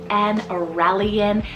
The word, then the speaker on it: Aurelian: alright speaking of flow we have aurelian Haze it's spelled a-u-r-e-l-i-a-n a relian and Haze h-a-y-e-s now this combo is so